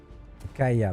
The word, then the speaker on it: Kya: pas vu au-dessus de kya ok ils sont postés en haut ka pardon j'ai jamais mis'y faire au fait que ça se prononce k allez viens au fait